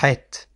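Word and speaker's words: חית: Donc ça vient du fond de la gorge, et il faut appuyer un peu au fond de la gorge pour exprimer ce son, qui ressemble un peu à un dégoût, comme si on allait plus ou moins régurgiter. Il faut un peu pousser au fond, donc ça fait ha, het.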